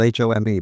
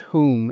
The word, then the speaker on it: Home: In England they call it Hume. In Scotland they call it whom. Yeah. Americans call it home. H O M E. But uh uh whom I'm I'm told is the correct pronunciation.